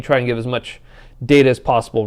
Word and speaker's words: Data: name it is pronounced data oh data look at this data what my name it is pronounced data oh you called me data what's the difference one is my name